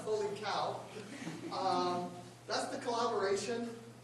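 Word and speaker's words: H0LiCOW: I was going to save that for later, but yes, it's pronounced holy cow.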